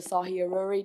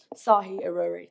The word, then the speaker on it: Sahi Aurori: to say um yeah, my name is Sahi, councelor Sahi Aurori, just for everyone to be clear because I know people have been struggling with pronunciation, but I am a member of this council as everyone else. Um, so I'd really appreciate if everyone could take the time to learn my name, Sahi Aurori.